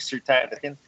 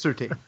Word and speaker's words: Surtain: Although I gotta say, I think you're pronouncing your own name wrong. It's Surtain. Surtain. No, it's not. It's absolutely Surtain. I've heard this argument before. It's absolutely Surtain. It's Surtain.